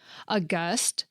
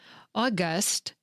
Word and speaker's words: august: it's the most common), aw-GUSST (with more of a W-sound at the beginning), and then two forms with more emphasis at the beginning: AH-guhsst and AW-guhsst.